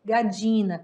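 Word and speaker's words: gallina: podidos nos pólitos Então sempre que tiver o LL junto você pode usar também ele substituindo por LH na sua pronúncia tá eu gosto de dizer gadina com DJ o som de DJ esse LL como eu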